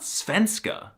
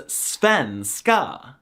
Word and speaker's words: svenska: For example, the name of the Swedish language is not Svenska, it's Svenska.